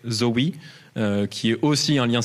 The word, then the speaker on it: XAUI: Vous avez le XAUI à prononcer Zoe, qui est aussi un lien sérialisé, mais sur des lignes CRDS.